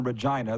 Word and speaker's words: Regina: it is in a Regina the city that rhymes with fun enjoying your show thank